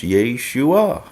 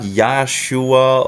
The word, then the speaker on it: Yeshua: how they actually pronounce Yeshua you know it's not yahshua or whatever weird conception that is out there it's Yeshua and Yeshua is the